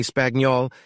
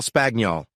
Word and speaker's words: Spagnol: Buck I said Cal spagnol he replied he pronounced it like spaniel clearing up a small mystery and we